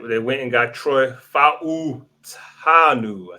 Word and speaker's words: Fautanu: All right, they went and got Troy Fautanu.